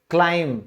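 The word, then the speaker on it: climb: ऊपर चढ़ना, उसे हम क्लाइंब, क्लाइंब नहीं बोलेंगे, हमेशा उसे कहेंगे क्लाइंब। तो ये क्या है, साइलेंट है।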